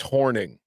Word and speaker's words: Hornung: player Paul horning or horning sources confirm it's pronounced horning in the moment who's watching live damn I'm